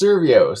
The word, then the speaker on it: Survios: So you work, how do you pronounce the company? Survios? I always get Uh, it wrong. it's Survios.